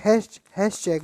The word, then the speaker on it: Hatschek: किसने दिया था, तो आप बोलोगे हैश चेक बोलते हैं। हैश चेक क्या बोलते हैं बेटा? हैश चेक। आप लिखना चाहो तो स्पेलिंग लिख लो, HATSCHEK।